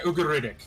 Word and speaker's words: Ugaritic: oh God, how the fuck do I pronounce this? Type- Ugarctic? Ugaritic? Yeah, Ugaritic, or Canic, or Canitic way of saying Yes.